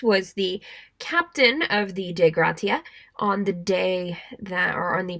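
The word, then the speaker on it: Dei Gratia: brigantine, the De Gratia, which I think that's how you pronounce it. It says to use the Latin pronunciation. Sure. A Captain Morehouse was the captain of the De Gratia on the day on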